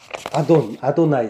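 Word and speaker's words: אֲדֹנָי: 아도나이, 나의 주. 주라는 건 아돈인데 여기 이제 이가 붙어서 아도나이라고 이제 발음하죠.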